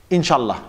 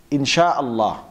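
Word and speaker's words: إن شاء الله: Or some people say, Inshallah, Inshallah. That's actually wrong. It should be, Insha'Allah. Insha'Allah.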